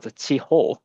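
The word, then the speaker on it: 痴呆: So this is pronounced in Japan as Chiho.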